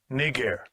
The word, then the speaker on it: Niger: Niger.